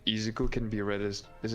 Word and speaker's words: Izuku: Midoriya Izuku.